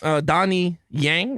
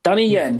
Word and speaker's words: Donnie Yen: Yeah, look, in terms of Donnie Yang, I hope I said it right? Donnie Yang? Donnie Yen. Finally, yep.